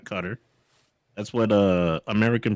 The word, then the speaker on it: Qatar: pronounce it as qatar cutter and the slight emphasis on the first syllable apparently it says the